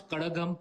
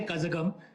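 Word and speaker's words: Kazhagam: North Indians who can pronounce Kadagam properly. We don't say Kazagam.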